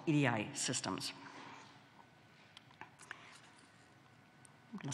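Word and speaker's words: 入会: which is the Oni Oni should actually be pronounced with the Yomi reading and called EDI so why did pre-industrial societies devise Commons what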